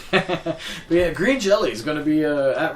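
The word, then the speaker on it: Green Jellÿ: Green Jello with a Y, but pronounced Jello. Yeah. Because they got sued by the Jello Corporation. It's pronounced like the German way, like Jello. But yeah, Green Jelly is going to be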